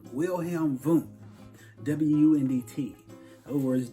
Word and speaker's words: Wundt: Another individual at Leipzig, Germany was Wundt, Wilhelm Wundt, W-U-N-D-T. In other words, W's in German pronounced as V's.